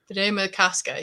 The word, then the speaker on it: Bde Maka Ska: It was Bde Maka Ska. Bde Maka Ska.